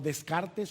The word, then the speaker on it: Descartes: ¿Han escuchado la famosa frase del filósofo francés René Descartes, o Descartes, como se escribe en español?